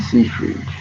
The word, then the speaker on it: Seyfried: Seyfried.